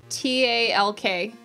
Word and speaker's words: talk: Say T-A-L-K. It also has an L in it, and it rhymes, so you say talk.